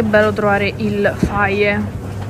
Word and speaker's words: Fage: Sapete, è bello trovare il faie, si pronuncia faie, che io a Jenna gli dicevo sempre il fage, ma io voglio il fage, lei faie, non capiva mai.